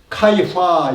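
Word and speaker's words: 开发: 개발하면은 카이파 이렇게 발음하거든요. 카이파.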